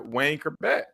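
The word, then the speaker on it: Wayne Chrebet: Wayne Kerbeck. Am I pronouncing his name?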